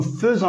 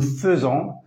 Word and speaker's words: faisons: fait avec T nous faisons attention à la prononciation on écrit a I mais on prononce eu nous faisons vous faites ils font